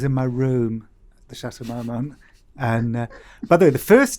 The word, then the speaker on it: Chateau Marmont: book and clocked the Chateau Marmont I think yeah so I pronounced that correctly this shutter oh I say the Chateau Marmont well some people say my monks you clocked that while